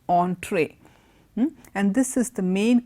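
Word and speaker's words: entrée: E and TR ie doesn't mean entry it's pronounced entree and this is the main course of a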